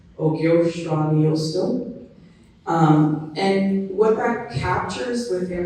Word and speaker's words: Ogyohsraniyohsdoh: So Ogyohsraniyohsdoh is how it's actually pronounced. Ogyohsraniyohsdoh.